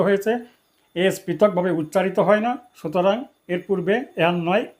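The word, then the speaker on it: NASA: এস পৃথকভাবে উচ্চারিত হয় না। সুতরাং এর পূর্বে এন নয়। এ ব্যবহৃত হবে নাম্বার ইলেভেন ডশ নাসা এক্সপেরিমেন্ট এখানে নাসা একটি এব্রিভিয়েশন এবং এক্রোনিয়াম এটা এন এস এ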